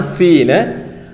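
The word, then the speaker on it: سين: അതായത് സ എന്ന ഉച്ചാരണം കൊണ്ടുവരാൻ വേണ്ടി അറബിയിൽ ഉപയോഗിക്കുന്ന അക്ഷരമാണ് സീന്.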